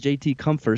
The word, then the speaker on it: JT Compher: Yeah, so he says JT Comfort. So maybe we need to look into that a little bit, and maybe we've been pronouncing that wrong this whole time.